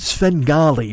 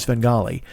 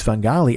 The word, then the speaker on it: Svengali: I didn't care for the pronunciation of Svengali um I mean again fantastic work amazing and I'm not picking nits here uh but I will say when the guy says fungali I got a shiver I was like I